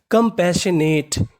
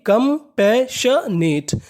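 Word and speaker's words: compassionate: है केवल एक बार यहां पर आई और ओ ये हमारा साइलेंट रहेगा इसका उच्चारण नहीं करना कभी-कभार हमें कुछ अक्षरों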